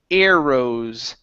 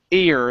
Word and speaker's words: arrows: Okay, we have the word arrows. Air instead of arrows, air. It's a long A sound.